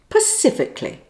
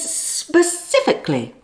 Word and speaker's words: specifically: At number 1, the bad pronunciation is Pacifically. Pacifically. Now, you have less than 10 seconds to guess the word. Clue? It's got nothing to do with the Pacific Ocean. Time's up. The correct word is specifically.